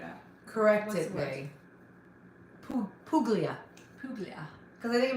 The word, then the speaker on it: Puglia: Puglia. Puglia. Because I think it means chicken, right? Puglia.